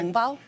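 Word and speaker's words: 红包: Hongbao?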